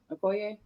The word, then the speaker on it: Okoye: It's Okoye.